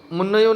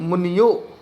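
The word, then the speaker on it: मुन्योः: मुन्नयो मुनियो, मुनियो हो, मुन्नयो नहीं है मुनियो, मुनियो हो शुद्ध पढ़ेंगे मुनियो।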